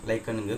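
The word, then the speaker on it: lichen: எங்கே பொல்யூஷன் இல்லையோ அங்கே தான் லைக்கனுங்க க்ரோ ஆகும். அது லைக்கன் சொல்லலாம், லிச்சன் சொல்லலாம், ரெண்டு வேர்ட்ஸாகவும் ப்ரொனவுன்ஸ் பண்ணலாம், தப்பு கிடையாது.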